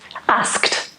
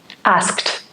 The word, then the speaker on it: asked: Bit of a difficult one to pronounce this because we have the sk sound. So if you're finding difficulties, maybe pronounce the sounds on their own. Sk, sk, sk. Asked.